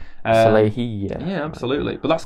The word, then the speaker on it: Salehe: I used to say Salehe, I think, but it's actually Salehe. Salehe, yeah.